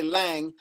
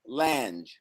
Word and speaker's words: Lange: So they don't say Lang. Lang is German, but my father says Lange. Yeah, and that's we where that got comes somebody from. in here, and they keep saying hard G.